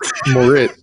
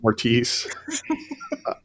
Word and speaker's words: Moritz: It's Moritz, not Mortiz. I'll give it to you.